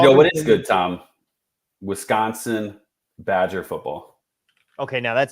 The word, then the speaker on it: Wisconsin: Wisconsin Badger football. Okay, now that's another one I got to correct your pronunciation. It's Wisconsin.